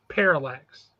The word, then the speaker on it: Parallax: and falx is Hal how Jordan basically it's Parallax Parallax uh basically possessed parallx is something entirely